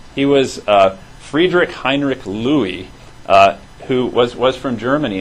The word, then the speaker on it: Lewy: you get super stellar points that this is Louie of Lewy body dementia he was a Friedrich Heinrich Louie who was was from Germany and he ended